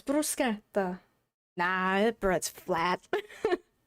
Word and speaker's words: bruschetta: In Italian, the s ch makes it a hard sk bruseta, but everyone here for some reason says bruschetta bruschetta bruseta.